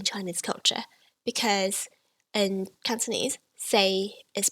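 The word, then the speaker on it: 四: pronounce fool so say in the third tone which is flat is for say in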